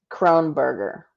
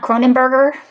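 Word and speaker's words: Kroneburger: how to pronounce it it's phonetic Crone burger it's not Cronin burger its are on a burger or Cronenberg or its Crone burger got it yes man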